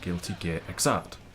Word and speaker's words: Guilty Gear Xrd: out the answer while working on fighting game Guilty Gear Xrd. And yes, that is how you pronounce it, I checked.